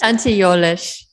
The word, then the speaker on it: Tante Jolesch: Tante Jolesch, but that's totally, how is that pronounced? Tante Jolesch.